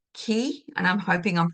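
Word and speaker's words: 氣: if you talk about, it's spelt CHI as in chi, what you would think is chi, but it's not pronounced that way. It's pronounced ki, is what I have found in my research.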